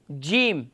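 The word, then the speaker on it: جيم: جی Jim. جیم Yes. Yes. Jammer مخرج میں استاد Yes, Jim pronounce the middle of the pilot and middle of the tongue.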